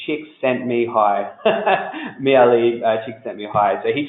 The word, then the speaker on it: Csikszentmihalyi: sort of something I won't forget so the pronunciation Csikszentmihalyi merely chicks hi so he talked about clothes